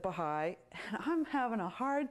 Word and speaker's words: Baha'i: Sure enough, eventually he says, "Baha'i, I haven't heard of that." I correct his pronunciation, Baha'i, and then I said, "It's a wonderful worldwide religion working for world peace."